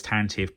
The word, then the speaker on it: Tantive: And if you Google the word how is Tantive pronounced or Tantive V pronounced on there, it breaks it down for you.